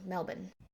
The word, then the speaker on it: Melbourne: So according to the University of Melbourne, I said it wrong, Melbourne.